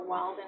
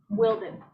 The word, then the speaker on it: Wilden: I'd like to call Walden to stand, Your Honor. Walden. Wilding, is that how it's actually pronounced? Wilding or Walden? Wilden.